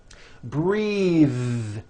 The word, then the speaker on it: breathe: take a breath unvoiced but when you change it into a verb that vowel changes and it becomes breathe I am breathing with a voiced th now let's do some